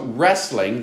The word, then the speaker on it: wrestling: spelling right as well so wrestling the w is silent is a sport in